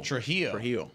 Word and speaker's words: Trujillo: Trujillo. Okay, so it's like an H in there.